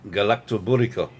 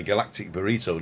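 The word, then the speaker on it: galaktoboureko: And galactoburico, which he taught me also to pronounce, because we always called it a galactic burrito, didn't we?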